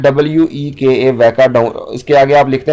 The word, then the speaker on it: Weka: वैका के स्पेलिंग है WEKA, वैका।